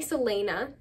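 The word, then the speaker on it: Celaena: assassin named Selena sardian sardian so scared to pronounce names in this video her name is definitely Selena I know that sardian that's how I always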